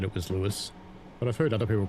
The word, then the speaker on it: Lewes: Flying Southerner says, as a Sussex local, it's pronounced like Lewes. Yeah, BA said it was Lewes, but I've heard other people call it Lewes.